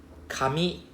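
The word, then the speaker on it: 紙: Paper and hair is the same thing, it's the same pronunciation, it's the same hiragana, but the intonation is a bit different. Kami is paper.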